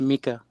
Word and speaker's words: Micah: Yeah. Mika. It's pronounced Mika.